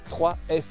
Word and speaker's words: 3F: nouvelle marque de tente la 3F sur gear ou free FT ça dépend si vous le prononcez à la française voilà américaine au programme on va